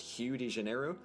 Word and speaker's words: Rio de Janeiro: And in other things that make very little sense, apparently Rio de Janeiro is supposed to be pronounced Hugh de Janeiro.